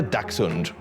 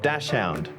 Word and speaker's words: dachshund: olympic games where their mascot was waldi the dachshund some even dressed up as waldy also i literally just learned today that it's pronounced dachshund and not dashound it's been rough well that's all from us